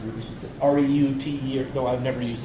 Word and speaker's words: Reuters: Yeah, I pronounce it Reuters.